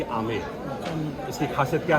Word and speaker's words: आमेर: आमेर में एक शब्द जो है वो साइलेंट है, क्योंकि हम लोग बोल नहीं पाते हैं, उसको बोलते हैं बी को ऐड करेंगे तो हो जाएगा अंबर, लेकिन आम पब्लिक क्या बोलती है यहाँ की?